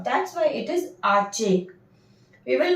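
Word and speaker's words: hache: So over here, this H is silent and this CH is making the sound of cha. That's why it is arche.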